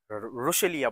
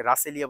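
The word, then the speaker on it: Russelia: হচ্ছে ঝরণাফুল গাছ অথবা রসেলিয়া বলে রসেলিয়া আমাকে নার্সারির যে লোক উনি আমাকে রাসেলিয়া বলেছে কিন্তু আমি পরে দেখলাম যে নামটা উচ্চারণটা প্রনান্সিয়েশনটা হচ্ছে রসেলিয়া আর এটা তো নরমাল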